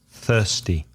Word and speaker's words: thirsty: be careful the pronunciation of thirsty and soften mispronounced by Spanish speakers thirsty I'm thirsty think without Oh be careful what about take